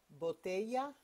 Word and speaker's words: botella: Two L's are like a Y sound. Botella de agua. Now you try it. Botella de agua.